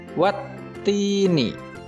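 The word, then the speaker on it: والتين: Maka cara membacanya adalah huruf alif lam melebur dan tidak dibaca sehingga langsung masuk ke huruf ta.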